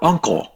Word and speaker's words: uncle: Bạn đọc là uncle là bạn đang học âm n, mà ở đây người ta phiên âm là âm ng, cho nên mình sẽ đọc là uncle chứ không phải là uncle.